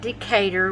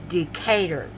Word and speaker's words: Decatur: Visit Decatur, where it's greater. And the way I know to change it is when it says greater. I always pronounce it wrong. Decatur.